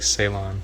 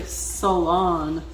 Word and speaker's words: Ceylon: think it looks like ceylon yeah that's how i would have said it but it's actually salon like s-u-h so you pronounce it salon and it's salon cinnamon